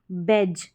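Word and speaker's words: badge: जैसे कि यह है बैज। क्या है? बैज। ब और यह जो डी आ रहा है यह डी साइलेंट है।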